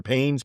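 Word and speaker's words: Payens: So what happens is a man Hugh okay Hugh of Payes I think it's pronounced pines or pains p a y ns a Frenchman he actually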